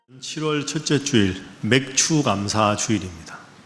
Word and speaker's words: 맥추: 7월 첫째 주일 맥추 감사 주일입니다 잘못 발음하시는 분들 자꾸 맥주 감사라 그러는데 맥추 감사주일입니다 보리맥 자에 가을 축자